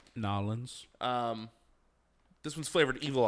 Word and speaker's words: New Orleans: before the show okay it is new orleans or new orleans nolan's kettle style that's pronounced nawlins um this one's flavored